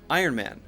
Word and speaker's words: Iron Man: n gets in there if you say Ironman Ironman that's unclear you have to make sure the iron iron and is there before you changed to the M iron it's coming out of my nose when you say that in sound all the air should be coming out of here and you're lifting the tip of your tongue up to block the air from coming out of your mouth Iron Man Iron Man